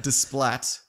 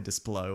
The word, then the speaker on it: Desplat: Alexandra Desplat. That's probably not how you say it. It's probably Desplo or something like that. No, it's Splatto. Splato.